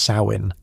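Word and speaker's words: Samhain: It's Samine, pronounced sain, a turning point in the old Celtic calendar, a hinge between the bright half and dark half of the year.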